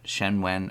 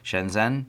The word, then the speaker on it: Shenzhen: all based out of Shedden shen wen i'm sorry if i said it wrong Shenzhen Shenzhen and they are just